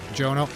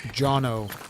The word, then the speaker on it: Jonno: It's Jonno, not Jono. Okay. So like always the items I gather in your field package. And once again, see this is the trick that Jonno doesn't know about.